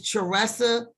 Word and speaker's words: Theresha: way and then my webpage is easy it's tressa you spell that t-h-e-r-e-s-h-a dot-com they say just make it